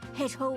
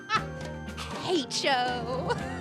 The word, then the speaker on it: hecho: made in China or Hecho in Argentina. On the bottom. Hecho. Pronouncing the H so strongly is so funny.